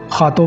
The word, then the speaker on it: Rato: Circle है खातों का, लेकिन हम लोग एक्चुअली खातों पोर्चुगीज़ के अंदर उसको खातों कहते हैं, लेकिन वो लिखा जाता है रातों लिखा जाता है। लेकिन जब हम उसको पोर्चुगीज़ के अंदर प्रोनाउंस करते हैं तो खातों, ये खातों का मेट्रो स्टेशन है।